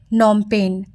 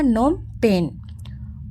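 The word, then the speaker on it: Phnom Penh: Cambodia Cambodia का capital नोमपेन अब पीएच जो है गाइस वो साइलेंट है तो क्या पढ़ाएगा नोमपेन उसके बाद वियतनाम का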